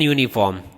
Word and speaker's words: uniform: But when you speak, how do you speak? Uniform. You speak with Y sound.